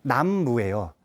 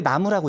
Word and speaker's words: 나무: 때 남쪽 그러니까 사실은 원래 음이 남 무에요 근데 나무라고 읽죠 그 다음에 묻자가 없을